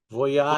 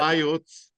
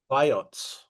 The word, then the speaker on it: Vayots: So here's and how do I pronounce the place? Voyat Vayots, Vayots.